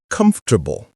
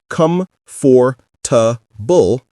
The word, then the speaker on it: comfortable: You're not saying come for, you're saying comfortable. Drop that or sound completely. Another trick, think of the word table. You wouldn't say tabul as two clear syllables. You'd blend it. Same with comfortable. Blend it all together.